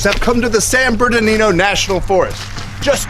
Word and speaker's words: Bernardino: At least, as a family of Squatches that we are, we got to spend the day in the beautiful San Bernardino National Forest.